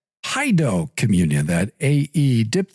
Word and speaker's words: paedo: That ae dip thong in the middle of pedo is really paido. It sort of ruins the Baptist parallel. They have krado which is correct and um in other words that's the correct pronunciation of kredo and then they like to rhyme that with pedo but uh really it's paid.